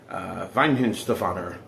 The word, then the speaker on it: Weihenstephaner: I'll pronounce it correctly again, but I'm sure I'm going to get, chastised for that. Weihenstephaner, original premium lager.